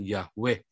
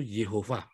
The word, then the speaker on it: Jehovah: menulis teks membaca tetragrammaton itu bukan Yahweh yang bilang yahwe itu hanya terong Amerika asli itu jehovah bacanya jadi namanya jehovah shammah